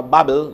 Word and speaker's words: Babel: what happened at the tower of babel that instantly or bubble depending on how you pronounce it um they because they